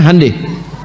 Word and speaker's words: Hyundai: Honda mereka bikin hande Hyundai itu dibacanya hande ya jadi Selalu Begitu itu